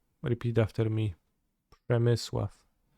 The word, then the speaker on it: Przemysław: It's Przemysław. Repeat after me. Przemysław.